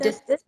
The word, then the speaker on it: Ecdysis: Is that Ecdysis. Ecdysis? I'm Yes. Flemish, so sorry for my Don't, pronunciation.